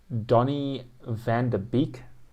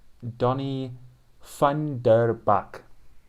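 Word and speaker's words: Donny van de Beek: is quincy pro mess donnie van der beek boy were you wrong it's donnie funderbach thunderbike sorry thunderbake uh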